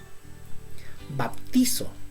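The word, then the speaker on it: βαπτίζω: En el griego, ¿cómo se dice sumergir? Se dice bautizo. Sí. Baptizo.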